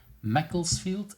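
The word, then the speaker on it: Macclesfield: UK like you said earlier close to Manchester Mecklesfield. Is that how I should pronounce this?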